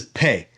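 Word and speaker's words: פ: sound like pop and if it's a soft pay it's a f sound like pH and I believe that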